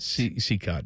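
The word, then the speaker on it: Cicotte: Is it Seacott? Seacott, yeah. Seacott.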